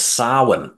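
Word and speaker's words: Samhain: Celtic that's English and Irish Festival which correctly pronounced was sa though it's got funny spelling and it was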